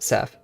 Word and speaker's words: Saf: Or it's Saf, sorry, it's Saf. I always mispronounce it, Saf.